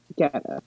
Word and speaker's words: Guetta: Yes, it's David Guetta.